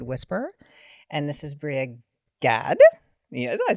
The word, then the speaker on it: Gad: She is all about female hormones, and this is her IG is the Period Whisperer, and this is Bria Gad.